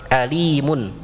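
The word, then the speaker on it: أليم: salah baca apa ya ya alim ini Hamzah jangan bacanya Alim ya Ada Alim ada Alim kalau Alim itu artinya pedih menyakitkan ya sedangkan Alim mengetahui wallahuma adzabun Alim dan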